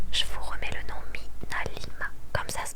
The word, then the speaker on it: MinaLima: Je vous remets le nom Minalima, comme ça se prononce.